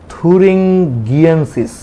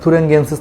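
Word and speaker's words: thuringiensis: তাহলে দেখো ব্যাসিলাস থুরিঙ্গিয়েন্সিস, অনেকে জিএনসিস বলে উচ্চারণটা, আমেরিকান উচ্চারণ একরকম, ব্রিটিশ উচ্চারণ আরেক রকম।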